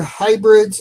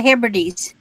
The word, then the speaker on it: Hebrides: Yeah, outer hybrids or hybrids of Scotland, 100% new wool. I think it's the Hebrides.